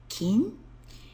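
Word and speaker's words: 金: is again it's cool meaning gold its pronunciation King we add it to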